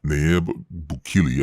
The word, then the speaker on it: Nayib Bukele: If you look at El Salvador's leader, Nayib Bukele, I believe is how you say it, when